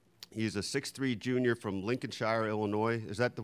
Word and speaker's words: Lincolnshire: He's a 6'3" junior from Lincolnshire, Illinois.